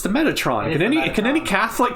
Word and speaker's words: Metatron: Metratron? It's spelt Metratron there too. Oh my god, that's a big typo. I'm not crazy, right? It's the Metatron.